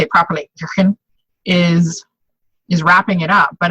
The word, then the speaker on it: Jürgen: Sutherland, and then Jürgen Appelo, say it properly, Jürgen, is wrapping it up.